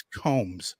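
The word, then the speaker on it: Coombs: I me Maran Angus comes ignore that second o that's exactly right there's only you see two o's in her last name but you only pronounce one one of them Marin Angus Combs so um we've addressed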